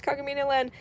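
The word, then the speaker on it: Kagamine Len: How do you how do you pronounce this character's name?" And I was like, "Oh, it's Kagamino Land."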